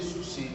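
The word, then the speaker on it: sursis: Corinthians também chamado de Sus apesar de ser escrito com s no final ao final temos aqui o s o se uma palavra de origem Francesa A comumente regra a consoante final não é pronunciada deixa eu escrever novamente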